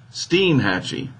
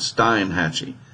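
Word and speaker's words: Steinhatchee: said on YouTube that this is pronounced steam hacci and not Stein hacci you know just hopefully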